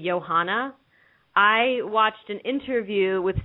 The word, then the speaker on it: Johanna: so much talk um about how to pronounce Joanna's name we're all saying Joanna I know there are a lot of people out there that say Johanna I watched an interview